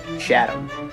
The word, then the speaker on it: Chatham: Now at number 3, we got Shark City, Chatham. Again, this one is also part of a series of towns that end in ham, but are pronounced Forget the H.